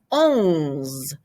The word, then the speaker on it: onze: So you had un, and when you make it a double digit, it becomes onze. Almost the same. The U changes to an O, and then you add your ZE.